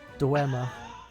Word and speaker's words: Dwemer: How the hell do you pronounce that? Dwemer.